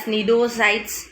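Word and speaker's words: cnidocytes: Okay, C is silent there, and you have to read it as nidocytes, nidoblast, okay, cnidaria, etc. Understood?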